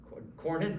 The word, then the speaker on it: Cornyn: is up for re-election his name rhymes with ryan rhymes with ornan cornyn okay good why don't